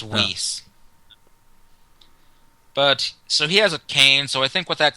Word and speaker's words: Whis: thought was wh it's spelled whis but it's pronounced whis but so he has a cane so I